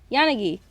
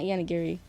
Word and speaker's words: Yanagi: these I yeah Yan Yanagi not yanari Yanagi I'm thinking of